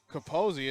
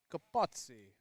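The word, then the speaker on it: Copozzi: it's interesting the pronunciation on that name it's kaposi it's spelled c-o-p-o-z-z-i thinking back to taking italian i think it's i think it's supposed to be gabazzi but not the case pick off move bobo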